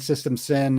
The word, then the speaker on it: System Syn: I mean, I'll plug my band System Sin, and it's spelled with Sin is spelled with a Y, so System SYN.